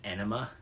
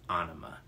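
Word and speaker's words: Ænima: pronounce the album I always thought it was pronounced anima uh for some reason but actually uh band members have said that the correct way to pronounce it is anima uh this album 1996 it's got it I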